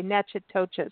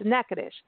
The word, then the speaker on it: Natchitoches: state of Louisiana and it is spelled n a TC h i t o c h s so looks like you're going to say na toas but it's nacadish and this is the